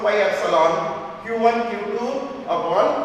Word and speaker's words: epsilon: Epsilon naught, this is called epsilon, E-P-S-I-L-O-N, epsilon. Epsilon. It's a Greek alphabet and you must know how to pronounce it.